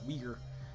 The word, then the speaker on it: Uyghur: And in Afghanistan, there are large populations of Uyghur people. It's pronounced like Uyghur, not like Uyghur. People say that in the United States because that's part of the racism. It sounds really close to the N-word.